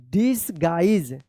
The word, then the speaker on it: disguise: Guys पढ़ेंगे, गीज नहीं guys होगा इसका उच्चारण, ठीक है ना। Guys. GUISE guys. DISGUISE डिसगाइज।